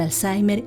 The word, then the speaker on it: Alzheimer: i m e r yo le pronuncio y y de acuerdo a la gramática Española y yo digo Alzheimer no sé cómo se dirá en en alemán pero eso esa es